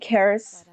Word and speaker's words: Karis: I say Karis but you guys might say it different with the way their name is spelled.